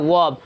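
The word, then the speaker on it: verb: Noun, pronoun, adjective, वर्ब, एडवर्ब, और वर्ब का correct pronunciation होता है वर्ब, आर साइलेंट होता है।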